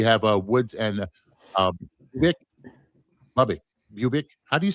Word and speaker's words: Bubic: Bubic. How do you say his name? Bubich.